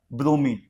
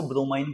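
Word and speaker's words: bromine: ब्रोमीन। कई लोग इसको ब्रोमाइन बोलते हैं। इट डज नॉट मैटर आप क्या बोलते हैं।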